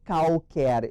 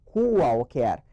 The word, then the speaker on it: qualquer: O QU e o GU, gente, tem que cuidar, ver se esse U não é pronunciado. Eu não digo qualquer, eu digo qualquer. Então, o primeiro QU é pronunciado, mas o segundo não.